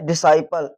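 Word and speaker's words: disciple: Sorry C होता है silent.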